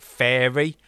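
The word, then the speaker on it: Faeria: I'll pronounce this wrong I've heard some people pronounce it fairy I pronounce it faia which was a deck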